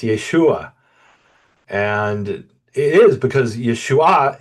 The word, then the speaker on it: Yeshua: talk about Yeshua, or they'll say Yeshua, and I'll say no. The emphasis is very important that it's Yeshua, and it is because